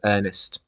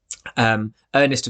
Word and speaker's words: Earnest: fascination with the name Earnest. Earnest, of course, is a homonym. It sounds exactly the same as the Earnest that is spelt with the A, meaning sensible, respectable, serious,